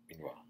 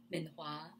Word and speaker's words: Minhua: Please correct my pronunciation. Minhua. Minhua.